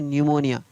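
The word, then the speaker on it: pneumonia: तो यहाँ पर भी पी एन से शुरू हो रहा है, तो यहाँ पर पी का उच्चारण है नहीं हो रहा है, इसलिए इसको पढ़ा जा रहा है न्यूमोनिया।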